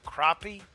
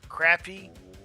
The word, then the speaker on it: crappie: I mean, there's Depends on how you want to pronounce it, how you want to pronounce it, crappie, crappy, or down here they call them sac-a-lait.